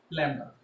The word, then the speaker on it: lambda: So the first one is wavelength, which is represented as like this, which is known as lambda, which is pronounced as lambda.